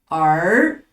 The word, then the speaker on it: 儿: 下一个字儿，它标准读音是儿啊，儿子、女儿、儿童。